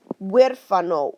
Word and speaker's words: huérfano: H, zero sound whatsoever, okay? You literally just step over it and start your pronunciation with the next letter. So in this word, okay, the first thing I'm going to do is look at my U. Huérfano, huérfano, huérfano. The H makes zero sound.